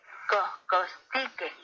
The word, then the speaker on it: costique: Costique. Recuerda que en el náhuatl las palabras se acentúan en la penúltima sílaba.